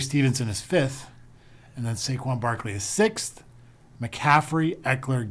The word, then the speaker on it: Saquon: Saquon Barkley.